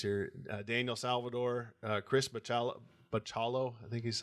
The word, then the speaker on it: Bachalo: Daniel Salvador, Chris Bachalo, I think is how you pronounce his last name. Yeah, Bachalo.